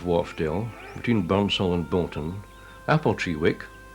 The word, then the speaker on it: Appletreewick: On the east side of Wharfdale, between Burnsall and Bolton, Appletreewick, locally pronounced Aptrick, is a pretty one-street village of great antiquity.